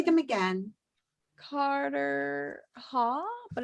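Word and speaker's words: Carterhaugh: Carter Haugh, but it's spelled Haugh. Yes. And Carter Haugh? Like yes. Cottar? Carter. Carter Haugh.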